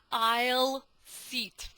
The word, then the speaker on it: aisle: Место в проходе, посмотрите, как пишется, но читается I'll sit. I'll sit. Почему оно называется I'll sit?